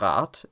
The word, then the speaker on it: Rad: to say that the underlying representation of rat is rad, with a voiced d sound, and the ur of objektiv is objektiv, and so on and so on. But the German has this phonological rule called final devoicing, where when the syllable ends in a voiced obstruent, it is replaced by a voiceless one.